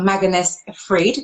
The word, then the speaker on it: Magnus Fridh: joined this is a magnus freed did i pronounce your name correctly you you you pronounce it exactly correctly yes yeah it was